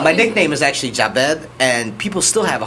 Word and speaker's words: Jabed: When I'm thinking like it's just J A and then Bed, you know, so Yeah. it's pretty Jabed.